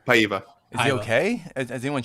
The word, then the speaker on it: Paiva: Pavita? How do you say his name? Paiva.